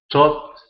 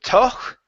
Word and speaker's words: though: Thought he definitely would prefer to never have to arrest anybody. Okay, very good. Let's go to this word here. This word is pronounced though instead of toch.